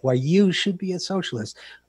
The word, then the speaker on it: Why You Should Be a Socialist: I am pronouncing that correctly, with the emphasis on the you, right? Yes, the you is big. Yeah, okay. Why You Should Be a Socialist.